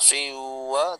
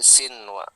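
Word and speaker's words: صنوان: Bunya, sinwa, pinwa, jadi tidak dengung dia, tidak siwa tapi sinwa, normal bacanya.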